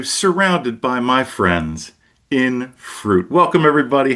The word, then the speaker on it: Frute: And we are called Fruit, but it's spelled Fru T.